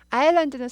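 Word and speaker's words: island: 그래서 제주 아일랜드라고 합니다 아일랜드는 섬이에요 섬 아일랜드 s가 모금이죠 발음이 아예 안나요 발음이 나면 아이슬란드가 됐겠죠 에스 바로 만납니다 아일랜드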